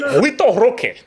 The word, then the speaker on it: Vitor Roque: No, you don't pronounce the R. Vitor Roque. Hockey, like hockey.